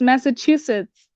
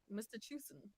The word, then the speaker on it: Massachusetts: Did I pronounce it wrong? Yeah, it's Massachusetts. What did I say? That's what I said. Mr. Chusen.